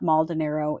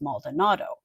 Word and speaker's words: Maldonado: It is not Maldiniro, it is Maldonado.